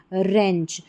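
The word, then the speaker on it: wrench: रेंच। तो इस तरीके से डब्ल्यू आर के कॉम्बिनेशन में हमारा डब्ल्यू साइलेंट होता है।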